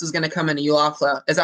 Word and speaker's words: Eufaula: They need to slap a warning on this one because this is going to come into Eufaula. Is that how you say it? Eufaula? Eufaula, yeah.